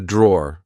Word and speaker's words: drawer: Like I said, um, be careful because in British English we don't pronounce the e at the end. We just say draw.